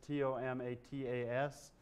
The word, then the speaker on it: tomatas: the gardens at monticello jefferson spelled him a spell tomatoes t-o-m-a-t-a-s suggesting he was pronouncing them tomatas the tomatoes you know